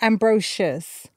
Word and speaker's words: Ambrosius: it deserves reverence ambrosious amazing amazing one more time for me ambrosious is that you said it ambrosious okay so people do say Ambrosius right okay then it's ambrosious I don't even know